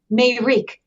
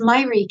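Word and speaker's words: Mayrik: Bella science it's called made reek ma Y Rik it's actually pronounced Myrick in Armenian which means mother believe it or not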